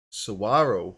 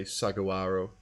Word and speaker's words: Saguaro: Saguaro Saguaro with a silent Gina if I look to this I'd definitely say sagawaro arrow is home to